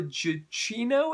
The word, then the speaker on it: Gugino: We've got Carla Gugino, I think is how her name is pronounced, and Bruce Greenwood, and they play a